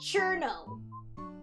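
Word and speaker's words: Cirno: Everyone says Cerno. I say Cherno. Because I heard other people who do like Toho commentary. Every time I hear like people who like do a lot of Toho content, they always say Cherno. Which I imagine is based off of like in Japan, I think it's pronounced Chiruno. So they say Cherno.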